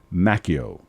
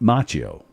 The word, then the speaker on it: Macchio: before the beach kristen christian macchio yeah not machio ralph has it wrong